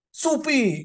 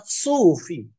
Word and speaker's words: sufi: Dan kami juga tahu bahwa pengucapan yang benar itu adalah sufi.